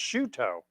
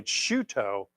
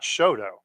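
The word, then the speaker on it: Chouteau: well and she and Shoto is actually pronounced shooto so it pronounced the the French way shuto not Shoto we we bastardize a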